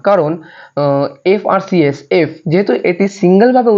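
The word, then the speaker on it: FRCS: যেমন এখানে আছে এফআরসিএস, প্রত্যেকটির মাঝখানে ডট আছে, সুতরাং এটিকে একসাথে উচ্চারণ করা যাবে না।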